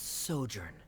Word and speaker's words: sojourn: everything clear director is osimos how do you pronounce this word let me see Ah that's sojourn it means to stay for a while this